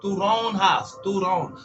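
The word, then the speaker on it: toronjas: J is in Spanish. So turonjas. So you gotta make that a syllable.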